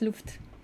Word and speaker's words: Luft: Well, I studied German, so I hope I pronounce it in the right way. I know it's Luft.